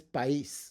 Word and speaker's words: país: Country in Espanol is país. País, that's going to be 2 separate syllables, and you put the accent to separate them.